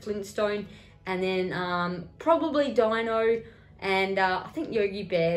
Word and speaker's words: Dino: quick draw and um dino or dino is how you say it so pretty much i